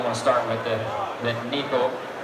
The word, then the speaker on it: Neko: I used to call it the Neko rig, but it's actually pronounced properly in Japanese as the Neko rig. I didn't know how to pronounce it. Last year I was calling it the Neko rig, and Shin Fukai from Japan is one of the best anglers at this technique. He came up to me and said, no, it's called Neko rig. Not Neko, Neko rig.